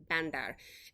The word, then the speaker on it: Bandar: Gotta say it like Bandar.